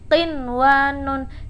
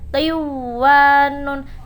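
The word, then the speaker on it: قنوان: Cara membacanya qinwanun, tidak boleh dibaca qiwanun sebab nun wajib diidharkan karena nun dan waw dalam satu kalimat.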